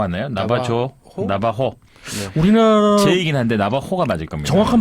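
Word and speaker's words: Navajo: 우리나라 제이긴 한데 나바호가 맞을 겁니다. 정확한 발음이 그건가요? 이게 약간 이 스페인어식 발음이에요. 한번 스페인어식으로 해가지고 한번 스페인어식은 나바호. 나바호. J를 호로 읽거든요. 호.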